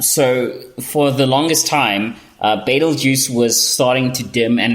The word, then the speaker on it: Betelgeuse: Some people mispronounce it as Betelgeuse, but it's Betelgeuse, Betelgeuse, and it is a very bright star.